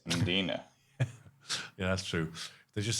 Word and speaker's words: Mdina: But it's not Mdina, it's Mdina. Yeah, that's true. They just said Dalkey instead of Dalkey. Just pronounce the L.